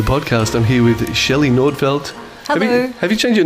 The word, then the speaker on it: Nordfelt: welcome to the podcast i'm here with shelley nordfeldt have you change your name since since your